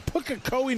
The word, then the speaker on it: Pukekohe: All you guys from Counties RC down in Pukekohe, New Zealand, joining us online. You know, it took me a year to get that right, Basil. I finally say it right now.